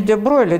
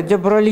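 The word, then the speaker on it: de Broglie: где брали в общем-то на самом деле не де бройля де брали и более более правильное видимо французское произношение ну да ладно а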